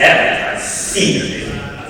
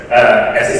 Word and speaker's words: APSCE: How does this abbreviation be pronounced? By some of you missed last year's opening ceremony. Those are another training. It's APSCE. It's not APSCE. It's APSCE. Yeah. So pronounce properly and you can from insiders. It's APSCE. Now, first of all, we'd like to thank Jessie.